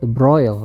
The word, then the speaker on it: de Broglie: seorang Fisikawan asal Prancis Ya the broil dibacanya ya dia itu membuat